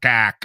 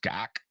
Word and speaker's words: gack: the odd S-bomb or gack or, A-hole. You or said whatever. On the air before? I've said gack. Yeah. You got to say it like that. Gack. Gack. Change the O to an A.